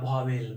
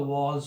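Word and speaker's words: vowels: हैं, वो होता है भावेल। भावेल नहीं होता, इसका जो प्रोनाउंसिएशन होता है वॉल्स होता है, WAALS, वॉल्स। वॉल्स जिसको कि आप लोग भावेल भावेल बोलते हैं, एक्चुअली ये वॉल्स होता है।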